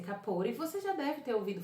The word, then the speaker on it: Capote: Capote, né, como tá escrito, mas a pronúncia é capore.